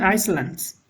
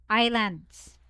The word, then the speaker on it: islands: floating what floating floating icelands oh not icelands Island floating icelands not icelands it's silent s Islands Islands Islands Islands yes